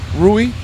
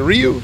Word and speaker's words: Riu: right there to Ru ruie I not saying it wrong what I keep what's right is it Ryu it's Ru okay ruie the ruie the